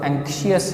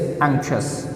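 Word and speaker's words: anxious: सबसे पहले मैं आपको ये बता दूं, इसको एंक्शियस नहीं पढ़ना, शियस इज़ नॉट the correct pronunciation. हम चूँकि पाकिस्तानी हैं, हम हलक से है निकालते निकालते जो है इनके तलफ़ुज़ बनाते भी गलत कर देते हैं। And again it इज़ not about the accent, ये मैं आपको प्रोनाउंसिएशन बता रहा हूँ। तो इट इज़ एंक्शस, शस करना आपने।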